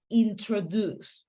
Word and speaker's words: introduce: pronunciation of the word introduce okay so remember the stress the stress uh part in that word is the last part introduce okay okay so that is the proper way to pronounce that word besides that great job